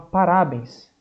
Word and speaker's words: parabéns: Então a gente fala parabéns. Não. Ah, uns vão falar que é o pá. Ah, então a gente fala parabéns. Parabéns. Não. A sílaba mais forte é o bens. Parabéns.